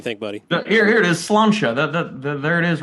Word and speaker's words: Sláinte: It's just kind of like a Gaelic way of saying cheers or salud, and it is pronounced Sláinte.